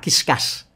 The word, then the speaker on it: Qiscus: Nah, saya tadi bertanya, bacanya Kiskas. Kiskas, tapi huruf Q-nya, Anda sorot huruf Q-nya, itu kayak D yang dibalik gitu. Nah, ternyata kalau itu dijadikan D, ternyata bunyinya menjadi discuss.